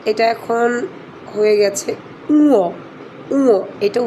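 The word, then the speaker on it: ঙ: অবাক হয়েছি যে একটা স্বনামধন্য একটা স্কুলে এখনও উমোই পড়াচ্ছে। তো এটা উমো না, এটা এখন হয়ে গেছে উঁয়ো, উঁয়ো। এটা উচ্চারণটা হবে উঁয়ো।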